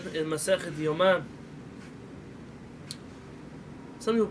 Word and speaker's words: Yoma: This is what our rabbis of the Talmud said in Masechet Yoma. Some people pronounce this Gemara as Yuma. Yuma is a place in the United States. In Arizona. Yoma is the Masechet in the Talmud.